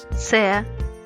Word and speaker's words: Ц: C, C. Pronounce letters T and S at the same time.